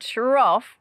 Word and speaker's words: trough: use for feeding animals did you notice cough and trough have the same sound off anyway next time i